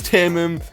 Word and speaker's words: Timim: It's Timim.